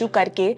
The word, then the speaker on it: REITs: These companies purchase these properties by raising money from investors by issuing shares or building units referred to as REITs (pronounced as REETs).